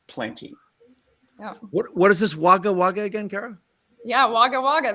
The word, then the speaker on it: Wagga Wagga: And I saw a bunch of cowboys, I think, correct me if I'm wrong in my pronunciation of this, but Wagga Wagga.